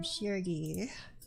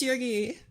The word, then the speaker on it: Shirgi: And I am Sheri. That's how you say my name. It's Sheri.